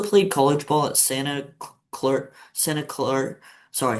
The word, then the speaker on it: Santa Clara: So you also played college ball at Santa Clara, sorry, how do you say it? Santa Claire University? Clara. Yeah, Clara? Clara, yeah. Sorry.